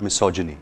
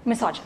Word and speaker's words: misogyny: Okay, how do you pronounce this word? Misogyny. Misogyny.